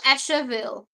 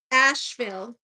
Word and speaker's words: Asheville: That's an Is it Asheville or Asherville? Asheville.